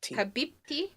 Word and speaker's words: Habibi: You're you're putting almost like a D sound towards the beginning when you're saying Oh, no. No. Habib No. Habibi. Habib. Habibi. Yeah. Habibi. Dear. So it's not habibi.